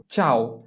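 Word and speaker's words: ciao: এরপরে হচ্ছে আমাদের ব্যতিক্রম, CEAO চাও, CEA চা। কারণ কি, যদি চি এরপরে ই থাকে এবং এরপর আ আসে তাহলে তার উচ্চারণ হয়ে যায় কি CEA চা। এরপরে শেষে আছে ও, CEAO চাও।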